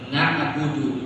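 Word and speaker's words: نَعْبُدُ: Na'budu. Budu kan tidak tasdid. Ini mah dibaca na'budu. Jangan ditasdid. Contoh ini ada kan? Kan dal itu tidak bertasdid di situ. Tidak ada tasdid.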